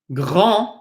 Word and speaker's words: grand: We look at the word for big, grand. Number one, we do not pronounce the D. And then we notice we have an A-N, which is pronounced on. This is not an, right? Grand.